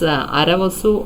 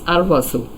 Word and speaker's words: Arvasu: Arvasu, the name is, it can be pronounced as Aravasu or Arvasu, but here it is Arvasu.